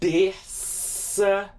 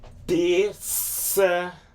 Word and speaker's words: terça-feira: Terça-feira. Terça-feira.